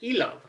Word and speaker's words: Ilov: I thought it'd be pronounced like Ilov. That's actually how it is pronounced in Slovak.